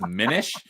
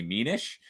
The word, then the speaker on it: Minish: I'm assuming he says Minish, but Minish? the second I would make the first I long, so it would be Minish by the rules of vowels.